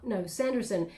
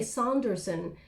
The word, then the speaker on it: Sanderson: Sanderson, Sanderson or Sanderson, because I was going to say Saunderson. It's almost like someone's correcting me and went Saunderson, but that's a different accent than mine, so maybe that's where they pronounce it, wherever that person is from. But Sanderson, basically Sanderson, I guess.